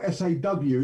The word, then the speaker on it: saw: It's pronounced S-O-R-E, but it's spelled S-A-W. It's taken over again.